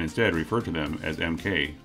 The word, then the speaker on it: MK: with the letters MK that MK was intended to be pronounced as Mark similarly to how it is used in Europe the problem was that